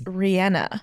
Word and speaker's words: Rihanna: Rihanna or, yeah, everyone says Rihanna because it sounds so, But it's Rihanna.